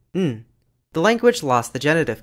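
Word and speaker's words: 'n: The indefinite article is pronounced as a syllabic nasal, n.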